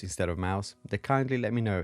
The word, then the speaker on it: Mous: I said Mous instead of Mouse. They kindly let me know it is pronounced like the small rodent.